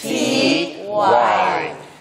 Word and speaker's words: safety: 네, 조금 어려운 거 F 발음에서 바로 T 발음으로 건너가야 돼요. Safety.